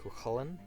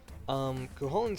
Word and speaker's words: Chulainn: I've always pronounced it Chulainn, although different people in different counties seem to